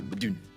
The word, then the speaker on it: Modon: Well, you say Modon, I say Modon, and then I get corrected. Oh, you get corrected. It should be Madun.